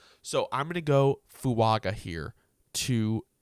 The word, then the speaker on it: Fuaga: I'm going to go fuaga here to F I guess it is pronounced fua with an N even though there's no n in there but that's how he